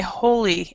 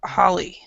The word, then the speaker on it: Holly: H what is it they pronounce me H say holy instead of Holly so which one is correct teacher a Holly Holly okay yeah Holly is correct okay yeah yeah but